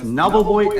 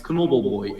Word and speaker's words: Knobbelboy: The K just kind of becomes silent when there's an N following it.